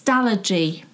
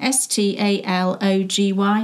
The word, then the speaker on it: Stalogy: find the name but it's it's stalogy that's how you say it isn't it s t a l o g y stalogy you'll if you're